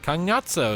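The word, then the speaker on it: Cagnazzo: Kagnazzo is how you pronounce it.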